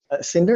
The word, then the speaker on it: Sinartus: with you thank you cinder is that the way you pronounce it right yes just like Cinderella and how do you